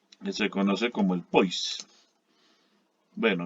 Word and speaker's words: poise: se conoce como el poise. Bueno, viene del francés, se debiera pronunciar poise, pero normalmente pues aquí la denominamos un poise.